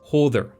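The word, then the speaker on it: Höðr: the Norse and Germanic god Hodr, or Hodr, to use the Old Norse pronunciation.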